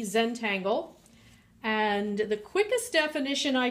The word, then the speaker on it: Zentangle: we're going to take a look at Zentangle today that is spelled Zed n t a n GLE e Zentangle and the quickest definition I can give is